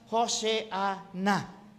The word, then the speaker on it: Hosanna: Pronounce Hoseana.